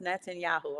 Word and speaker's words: Netanyahu: thank you I never say it right toast Netanyahu okay I said it right y'all be so